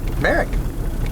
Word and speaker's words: Marek: Marek. Marek. Marek. Yeah, that's what Grandpa used to call him. Yep. Marek. Marek. 'Cause that's how they pronounced it in Poland.